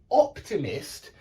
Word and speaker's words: optimist: don't say Optimist Optimist we don't put the stress on the Mist we put the stress on the o and the same with